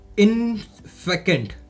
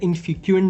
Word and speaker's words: infecund: इसके साथ साथ और क्या लिख सकते हैं हम, इसके साथ हम लिख सकते हैं इनफेकेंट। इसका प्रोनाउंसिएशन थोड़ा ध्यान दीजिएगा, INFECUND, इनफेकेंट। इनफेकेंट प्रोनाउंस करते हैं, ऐसे इनफिक्यूएंट नहीं करते हैं, इनफेकेंट प्रोनाउंस करते हैं, ठीक है।